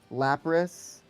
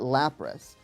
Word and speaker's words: Lapras: Well, well, cuz yeah, like in Japanese it's lelass, but because of the ambiguity between the L and the R, they changed it in English to lapros, and we call it lapras.